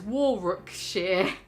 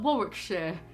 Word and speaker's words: Warwickshire: But before, I would have pronounced that as Warwickshire, not Warwickshire.